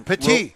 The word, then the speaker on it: Petit: The Petit. Petit. It's spelled different. I looked this up. It's pronounced Petit. Petite means. Spell it. P-A-T-E-E is the way it's pronounced.